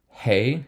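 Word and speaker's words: ה: dollet is a d hey is an h v is a v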